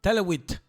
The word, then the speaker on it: Talwit: terminado en T. Talwit. Ah, vale, bien. Eso es, acabas de pronunciarlo perfectamente.